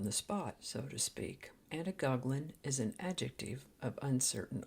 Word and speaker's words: antigoglin: Today's word is Antigoglin. The Word a Day Archive spells it and pronounces it Antigoglin with a D, but I've always heard it as Antigoglin.